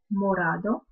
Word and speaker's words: morado: Багровый темно-красный morado. Опять же, обратите внимание на четкое произношение O, morado.